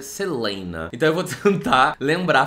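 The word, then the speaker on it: Celaena: pronunciei de tantas formas Aparentemente a Sarah J mess diz que a pronúncia correta é Selena Selena o eu já vi eu Antigamente eu falava Selina porque e escreve com a e e junto mas Aparentemente o correto é seleen então eu vou tentar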